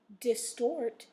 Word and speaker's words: distort: So your words are formal, gorgeous, normal, order, distort, import, inform, and resort. So those last four words have the stress in the second syllable, okay?